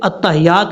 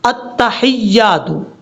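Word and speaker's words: التحيات: جی، یہاں سے التحیات، حمزہ کو تا سے ملانا ہے، حمزہ تا زبر ات، تا زبر تا، اتا، ہا یا زر حی، یا الف زبر یا، حیا، التحیات التحیات، اس کو التحیات نہیں پڑھنا، التحیات للہ، یہ ہے اس لفظ کو پڑھنے کا طریقہ۔ اگر آپ کو پہلے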